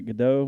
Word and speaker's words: Gal Gadot: linda carter yoga doe is it godot or guy is it ga the t is silent gal gadot i don't know hey who's